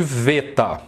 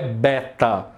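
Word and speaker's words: βήτα: magnitude nós chamamos de veta. A pronúncia em grego é veta, não é beta. Ok? É alfa, veta. Isso aqui tem som de V em português, tá? Não é som de B, é V.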